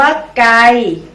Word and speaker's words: ไก่: ซี แต่ ปี ake ปีก มี คำ ว่า ไกล เมื่อ เติม วรรณยุกต์ เอก ลง ไป จะ อ่าน ว่า ไก่ อา กอ ไอ ไกล กไก่ เอก ไก่ มี คำ ว่า ใส เมื่อ